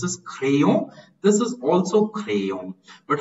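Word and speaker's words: crayons: the only difference is the S is not pronounced in French like in English there's a clear difference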